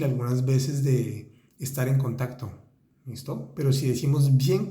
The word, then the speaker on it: contact: de rester en contact, y pronunciamos bien la C y la T al final, como excepción en el francés, porque siempre hay una excepción. Entonces ahí vamos a decir bien contact, contact, todas las letras, contact.